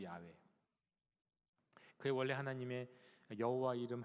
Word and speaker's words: 야훼: 그래서 어떻게 읽는지도 모르는데 최근 들어서 이제 다시 알게 된 것은 그 이름은, 그 발음은 야훼다, 그거잖아요. 야훼, 여호와도 아니고 야훼.